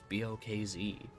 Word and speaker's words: Boz: And we decided that his name should be box, but it shouldn't be spelled like box. it should be a little bit quirky. So, it was Boz.